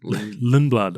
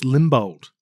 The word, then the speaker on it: Lindblad: Lindblad. I keep thinking it's Limbold, but it's Arvind Lindblad.